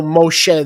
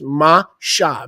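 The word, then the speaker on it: משה: Moisés, Mem Shin Hey, there's no Moshe there, there's Masha. Mem Shin Hey is without vowels, is pronounced Masha.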